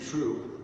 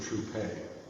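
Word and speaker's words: Trouppe: quincy true now quincy true or troupe he was born with only one p in his name and is pronounced true but uh he played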